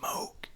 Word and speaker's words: Moog: It's pronounced Moog.